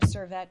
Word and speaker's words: Servet: a girl, and so I was named Servet because they didn't bury me, and I spell it differently because that's how it's pronounced in my world.